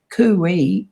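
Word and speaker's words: Coocooee: Now, I found that that was the first, that's what started me looking further and deeper into it, because Kui is spelled in our language, C-O-O-C-O-O-E-E, Kui, and it means to protect in Aboriginal and non-Aboriginal.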